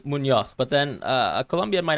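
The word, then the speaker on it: Muñoz: I would say Munoz, but then a Colombian might actually say Munoz, because the way they pronounce the Z or the Z is slightly different. I would say Munoz as a Spaniard, but yeah.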